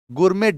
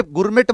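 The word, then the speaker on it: gourmet: गुरमेट dish. इसको गुरमे गुरमेट मत पढ़ना। इसे गुर में कहते हैं।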